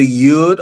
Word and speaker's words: Yud: Is either Yud or Yod. Either pronunciation is acceptable, and it means hand.